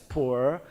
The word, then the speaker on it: Pu'er: The traditional Pu'er tea, and they are Pu'er tea in China, pronounced as Pu'er, and then from now on, ATOMY Puer tea will make it Pu'er tea.